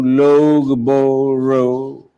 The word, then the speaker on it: Loughborough: Then we come to a wonderful little city, which is spelled as L-O-U-G-H-B-O-R-O-U-G-H. It's actually pronounced as Loughborough.